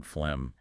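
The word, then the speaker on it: phlegm: Then we get those tricky silent letters like in fleg. GH. Yes. Spelling versus sound. The fa is an F sound. That's pretty standard. But that then that G in fleg, it's just gone silent.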